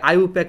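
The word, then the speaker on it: IUPAC: তাহলে এবার আসো ইউপ্যাক, এটাকে অনেকে আইউপ্যাক উচ্চারণ করে, অনেকে ইউপ্যাক উচ্চারণ করে, যে যেমন উচ্চারণ করুক, আপাতত এটা নিয়ে মাথা ব্যথা নাই।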